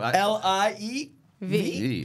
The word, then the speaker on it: Liev: Liev is a new... L-I-E-V. Liev.